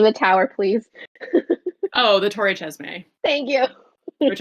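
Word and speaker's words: Torre Cesme: tower please oh the Tor chesme thank you which I thought it was a soft C up until right before this episode when we looked up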